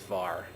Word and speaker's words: VAR: and amp reactive and I will almost always just pronounce that as VAR I like to read acronyms whenever I can so yes that's rectangular